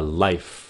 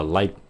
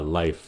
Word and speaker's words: life: Nó phát âm là life, life. Đừng có cúp cái hơi nó phía sau, các bạn đừng có nói là life, life, no, nó là life.